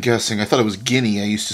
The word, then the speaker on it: Guinea: so let's learn a little bit about equatorial Janae all right let's see how to say this guinea guinea oh man I must be confusing I